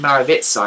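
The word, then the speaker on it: Mrvica: If you type into YouTube Maxim, M-A-K-S-I-M, and then his surname is pronounced Maravitsa, if I remember rightly, but it's spelled M-R-V-I-C-A. So it's not actually spelled as you would say it.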